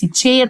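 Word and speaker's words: chair: الكرسي، يلا قلت لك السي اتش انطقها تشي. ليه قلت على الاي؟ عشان جه وراها الاي بتساعدها، وطالما الاي هتساعد يبقى انا مش هنطق الاي، يبقى تشير كرسي.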